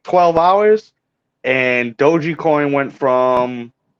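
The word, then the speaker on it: Dogecoin: bitcoin um and then dog coin doji coin is actually how you pronounce it doji coin had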